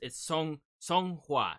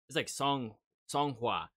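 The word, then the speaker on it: Seonghwa: So whenever I'm having being frustrated, not knowing how to pronounce their names. Hey, I'm going to have it right there, but it's Song Hua. So it's like Song Hua.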